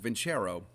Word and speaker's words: Vincero: That's how you pronounce it, Vincero.